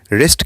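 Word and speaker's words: wrist: इसके बाद next body part है कलाई, जिसे इंग्लिश में रिस्ट कहते हैं, इसमें W साइलेंट रहता है।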